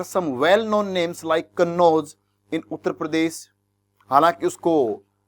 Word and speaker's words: कन्नौज: Place names and mark in Arabic and there are some well known names like कन्नौज इन उत्तर प्रदेश। हालांकि उसको लिखा इस प्रकार गया है, स्पेलिंग कुछ अलग बनती है, लेकिन कन्नौज ठीक, लेकिन है उसके अंदर।